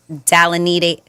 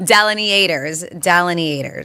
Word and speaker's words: delineators: And I was told the pronunciation is Dalinate. No, I'm messing it up. What? Delineators.